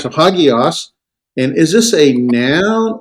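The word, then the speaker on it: ἅγιος: Hagios. Hagios. With the H, the rough breathing sound. Hagios.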